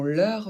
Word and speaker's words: leurs: y a une différence on ajoute un S au possessif du pluriel qu'on ne prononce comme un Z que pour faire la liaison et ici on ne